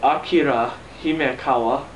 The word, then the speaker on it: Akira Himekawa: By Akira Himekawa. That's how you pronounce it for those people who can't pronounce Japanese.